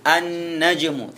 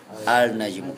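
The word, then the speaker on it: النجم: Khair rabiasyar yang ke-14 Nun annajmu tidak boleh dibaca alnajmu saya kasih waktu 2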